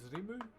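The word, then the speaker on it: rimu: This is reu. R I M U is how you spell it.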